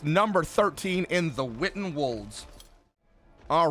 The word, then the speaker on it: Wolds: W-O-L-D-S would be pronounced Wolds, not Woods.